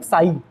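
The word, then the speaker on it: psi: Okay, इसको पढ़ते हैं क्या हम लोग, साई, ठीक है, इसको हम लोग पढ़ते क्या है, साई, ठीक है। पी एस आई, P silent होता है तो साई इस करके इसको हम पढ़ते हैं, ठीक है।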